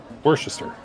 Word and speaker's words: Worcester: Worcester. Yeah. Yeah, but it's not what it's spelled.